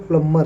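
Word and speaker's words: plumber: उसी प्रकार है नीचे सबसे, हम लोग बार बार प्लम्बर कहते हैं लेकिन ये इसका सही उच्चारण प्लम्बर होता है, बी को साइलेंट रखा जाता है, प्लम्बर, मर।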